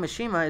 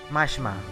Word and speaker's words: Mishima: Let's see, Jean says, side note, the name Mishima is pronounced Mashima. Sometimes you can just glance over the eyes and use in Japanese names.